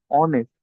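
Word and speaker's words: honest: যেমন এইচ আমরা যেমন জানি এইচ ও এন এ এস টি এটার উচ্চারণ কিন্তু হনেস্ট না অনেস্ট এইচ সাইলেন্ট থাকে একইভাবে এখানেও যেমন দেখতে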